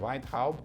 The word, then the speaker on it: Weintraub: E o ministro Weintraub já constatou isso. Então ele... A pronúncia dele como é?